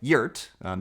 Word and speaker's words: wort: Sweet barley tea, what brewers called wort, spelled like wort, but pronounced like UAT, because as the professor dedicated his life to proving.